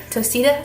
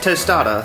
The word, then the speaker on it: tostada: Then we'll add our tostita, is that how you say it? Tostita? I don't even know what it's called now. Tostada.